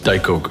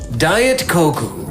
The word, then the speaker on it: Daikoku: It's You pronounced that wrong. Daikoku. I was like, You said Koku. Diet Koku. Okay, so Diet Coke.